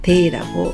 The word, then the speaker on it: 提: 제로 읽는 한자는 주로 세이라고 발음 나지만 끌제만 대이라고 읽는 점 주의하시기 바랍니다.